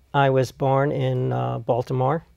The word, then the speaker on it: Baltimore: was born in uh Baltimore or Balmer as as they say it uh and when I